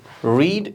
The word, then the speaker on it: read: कि आप यहाँ पे देखें तो आपके पास रीड आ रहा है ना, ये रीड infinitive and present tense. जब ये पास्ट टेंस बनता है तो वी प्रोनाउंस रेड.